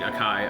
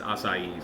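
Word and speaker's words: açaí: it some juice variation and I was saying akai akai akai which I'm sure everybody does but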